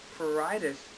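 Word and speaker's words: pruritus: p r u r i t u s paritis is an itch we have an uh our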